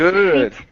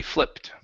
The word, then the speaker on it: flipped: more time flipped Fleet can I say just Fleet nope because Fleet is a large group of something okay okay so you do need to pronounce the P flipped okay good good that's